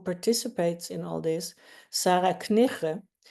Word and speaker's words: Knigge: in all this, Sarah Knigge. She told me how to say her name just now, so I didn't know. It's Knigge, it's like very Dutch, with lots of G's.